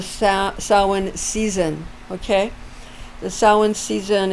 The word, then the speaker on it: Samhain: season of the sa samhain season okay the samhain season it's spelled uh like s-a-m-h-a-i-n but it's pronounced samhain for the pagan festival when you're